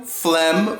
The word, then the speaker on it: phlegm: start with pH and what sound does pH make photo phlegm phooey and phone makes an F sound F is only for